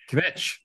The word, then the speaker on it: Kvetch: Kvetch, is that how you pronounce it? Yeah, Kvetch.